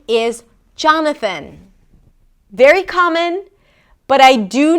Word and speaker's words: Jonathan: Jonathan.